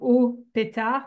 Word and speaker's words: ohpet.art: Enfin, ça fait comme Au Pétard, mais ça s'écrit OHPET.ART.